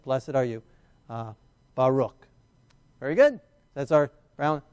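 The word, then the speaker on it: ברוך: And then we got our bet, our ah, our resh, our u, and our final chaf. So it makes the ch sound, okay? Baruch, baruch, baruch. Baruch, two-syllable word there.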